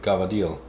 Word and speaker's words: cavatelli: Today, I wanted to show you how I make my homemade gavadil, or cavatelli, as most sane people would say. Apparently my Sicilian friend insists it is gavadil, even though it's not spelled like that.